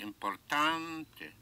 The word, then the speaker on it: importante: Important, therefore, will be importante. So Importante.